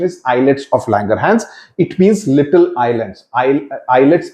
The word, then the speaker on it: islets of Langerhans: sound being made okay eyelets of langerhans islets pronunciation is eyelids of langerhans it means little Islands eyelids itself means little